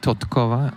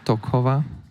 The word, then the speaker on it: Totkova: There should be Totkova, not Tokova.